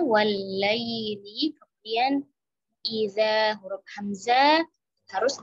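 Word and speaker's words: والليل: Nah, di sini ada huruf lin, ya, ya sukun sebelumnya ada harokat fathah. Ya, fokus membacanya adalah i, ya, jangan miring. Wal lail, ya, tajamkan i-nya. Wal laili, kemudian iza huruf hamzah harus ditahqiq, diperjelas, ya, i.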